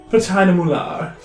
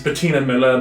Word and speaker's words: Bettina Mular: Bettina Mular. She is now pronounced sometimes in some sects as Bettina Miller, but I think that's not as fun.